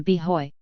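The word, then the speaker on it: b'hoy: the character of the be Hoy the Irish and Urban Street pronunciation of boy and one that denoted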